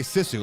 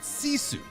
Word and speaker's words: Sisu: You don't say Sisu like we were all saying for a while. That's I'd say right. you pronounce it Sisu from the director of Rare Export.